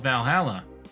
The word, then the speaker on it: VA-11 HALL-A: this one already Valhalla the name sounds silly and a bit hard to pronounce good thing it's actually called Valhalla the funny numbers and letters are just a code anyways I visited this